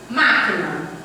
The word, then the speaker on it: máquina: Tipo, máquina. Chame a palavra máquina. Máquina. Você demora mais no má.